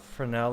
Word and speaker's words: Fresnel: We've talked about Fresnel lenses, or it's spelled Fresnel, F-R-E-S-N-E-L.